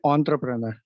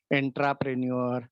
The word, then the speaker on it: entrepreneur: Remember, the pronunciation of entrepreneur should be entrepreneur. Uh, People at times speak it like entrepreneur, intrapreneur, and so on. But it is not like that, because it is derived